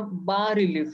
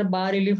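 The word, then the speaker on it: bas-relief: ज्याला लो रिलीफ किंवा बा रिलीफ, स्पेलिंग जरी बास असं असलं तरी त्याचा उच्चार बा रिलीफ असा करतात आणि त्याच्यामध्ये बासो रिलीव्हो असा जो मुळातला इटालियन शब्द आहे त्याच्यावरनं हा शब्द इंग्लिशमध्ये आलेला आहे.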